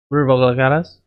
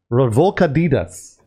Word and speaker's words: revolcaditas: How do you pronounce it? Revolcadas. Say it again. Revolcadas. It's revolcaditas.